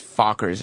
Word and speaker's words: Fockers: But it's Fockers is how it's pronounced.